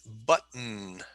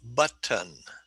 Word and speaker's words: button: pronunciation of english and depending on where you live and how you talk you might say button button but i do not talk like that okay um i say button button button no i